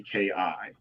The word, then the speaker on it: Kiyosaki: So it's not exactly spelled how it sounds, but it sounds Japanese. It is Japanese. It's Kiyosaki. Okay, I would have gotten close.